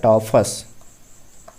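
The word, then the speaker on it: tophus: चलिए हम लोग 15 नंबर की बात करें तो 15 नंबर में आता है टॉफस, टॉफस, ठीक है। टॉफस की स्पेलिंग क्या हो जाएगी, देखिए टॉ टॉ टॉ,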